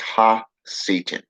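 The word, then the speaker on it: הַשָּׂטָן: el shaitan in hebrew his his name is pronounced ha satan okay meaning adversary accuser the adversary complex to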